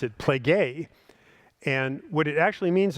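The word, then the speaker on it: πληγή: It's a p lambda ada uh gamma and and ada again it's and you pronounce it pleay and what it actually means is a stripe.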